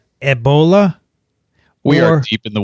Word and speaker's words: Ebola: the E in Ebola has an accent aigu, which, however, is not shown because the E is capitalized, i.e.